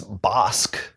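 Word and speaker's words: Bossk: Well, first of all, I can tell you that it's Bosk. That's how you say it.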